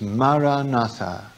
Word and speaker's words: maranatha: i suggest you use is maranatha that's four syllables and the purpose of